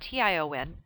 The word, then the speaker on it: tion: The suffixes sion and tion, both pronounced shun, form nouns.